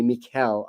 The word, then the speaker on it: Mikel: It's pronounced Michelle, but with a K. Mikel.